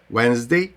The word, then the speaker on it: Wednesday: не менш цікаво Я літера D вона так само не вимовляється коли вона стоїть перед N і G саме тому дій не буде вимовлятися у словах wins Day Хоча вона там пишеться і дуже часто наші люди пробують її там вставити обов'язково вимовити кажуть ведмедиздий Wednesday то ти вимовляється G